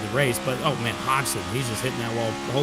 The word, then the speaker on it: Hodgson: Happy guy right here, that G in his name is apparently silent. So it's Hodgson is how he likes to pronounce it.